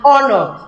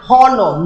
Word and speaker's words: honor: example an honor an honor now you cannot say an horor no the her is silent so it begins with the o sound an honor an hour